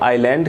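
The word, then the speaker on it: island: में कह सकते हैं आयरलैंड है इसमें ऐड साइलेंट तो इसको आयरलैंड करते हैं नेक्स्ट विच कैन नॉट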